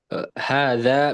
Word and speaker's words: هذا: Keep note, don't forget that this word hada, there's a squiggly line right here that implies that there's a med.